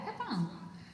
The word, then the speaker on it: Capão: Yeah, Capão.